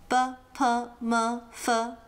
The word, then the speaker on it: ㄅ: BP-m. So, the first one, B. Think of a burger. Now, get rid of the urg and you get B.